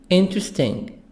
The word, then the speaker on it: interesting: Interesting. This E, the letter E after T is silent.